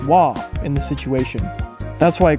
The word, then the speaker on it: は: a character for hall it is but it's pronounced wha in the situation that's why konichiwa is spelled